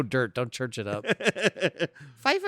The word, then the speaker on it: Pfeiffer: Pfeiffer is PF, isn't it? Yeah, but it's Like pronounced pterodactyl.